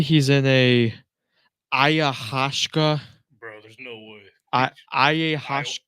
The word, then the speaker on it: ayahuasca: happens at a ayahuasca?